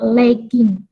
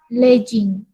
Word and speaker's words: legging: Ini harusnya diucapkan dengan kata legging. Leg ini kan kaki, dari kata leg ya. Kemudian ditambahkan dengan hubungan ing, jadinya legging. Bukan legging.